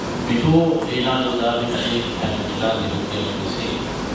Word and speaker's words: Michelangelo: But the super renaissance in the 15th century started with people like Leonardo da Vinci, Michelangelo, pronounced as Michelangelo by the English, but his Latin or Italian name is Michelangelo.